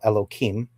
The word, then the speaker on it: Elohim: It's elhem which I will call Elohim.